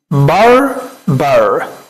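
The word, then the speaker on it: barber: الدغ في الراء، الار بتاعت الانجليش ما بتظهرش، فبنقول ايه؟ باربر.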